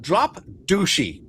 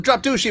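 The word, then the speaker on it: Drop Duchy: When you think of drop dooshy, what do you think of? Uh uh Keely. Uh actually, I think it's called drop ducky, but they To me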